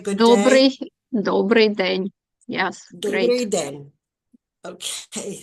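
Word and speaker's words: Dobrý den: I'm not sure how do you pronounce Dobry den to say good day? Dobry den.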